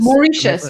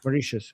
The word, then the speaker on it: Mauritius: Mauritius. Mauritius. Mauritius. Mauritius. The T is silent.